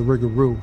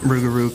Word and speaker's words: Rougarou: Rougarou kind of sounds almost like a butchered pronunciation of loup-garou.